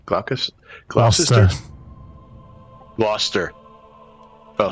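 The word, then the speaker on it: Gloucester: Yeah, I rate it freaking Glou Glowchester. Glauus Glowister Glouster. Oh, so we just don't pronounce all the letters in English.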